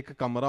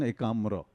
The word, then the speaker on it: Ekamra: festival because a Punjabi guy like me can't pronounce it sir it's what is it you know first I thought it was a kamra or something so then I I may offend